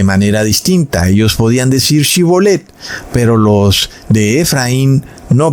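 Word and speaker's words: שיבולת: Entonces le decían, "Ahora pues di Shibolet." Y él decía, "Si bolet porque no podía pronunciar correctamente esa palabra."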